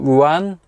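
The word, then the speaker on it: Rouen: just past ruin or ruin or ruin and that's the correct pronunciation to a site called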